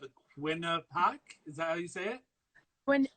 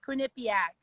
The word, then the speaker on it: Quinnipiac: so I apologize but the winner when yeah that is butchered absolutely it's Quinnipiac yeah 2010 I get